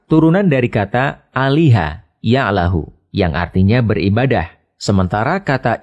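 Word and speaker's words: الله: yang dites dites lalu lam yang kedua dibaca tebal sehingga dibaca Allah demikian pendapat ahli bahasa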